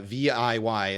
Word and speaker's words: Viy: 1967 called V uh viy is how that's spelled but pronounced V and this is a